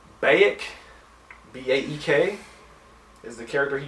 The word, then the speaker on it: Baek: I never knew how the fuck to pronounce his name, even in the game. It's like Baek, B-A-E-K, is the character he fucks up in this scene.